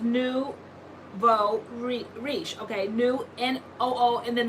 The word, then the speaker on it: nouveau riche: Let's see, it's pronounced Nouveau Riche.